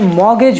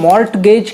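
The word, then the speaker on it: mortgage: सा मुश्किल होता है जैसे मॉर्गेज में मॉर्टगेज करना बहुत मुश्किल हो जाता इसलिए हमने मॉर्गेज कर दिया उसे तो इंग्लिश रिफॉर्म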